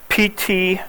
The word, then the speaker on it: Ptolemy: Ptolemy. It's got a silent P.